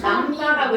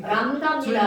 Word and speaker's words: 람다: 그리고 이거를 뭐라고 읽어주냐면 람다라고 읽어줘요. 원래 아닌가? 사람 있죠. 아 원래 아닌데 저거. 자, 들어갈 리. 그게. 람다입니다.